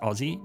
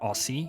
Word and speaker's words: Aussie: I don't find it offensive or anything, but of late with the rise of Aussie stereotypes, and that's pronounced Aussie, not Aussie, you weirdos, I've noticed this kind of no joke kind of going around online in the last few years.